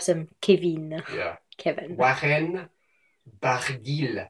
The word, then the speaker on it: Barguil: Now, I think a lot of people think the L is silent, but this is a weird Breton name, and it's Barguil.